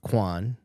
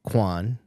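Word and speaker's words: Quan: He negotiated the deal for Goonies co-star Hugh Kwan, I think is how you say his Kwan.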